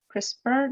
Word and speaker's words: CRISPR: the it's about chris crisper that's how you pronounce the red um you